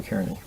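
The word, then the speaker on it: Kearny: Carney.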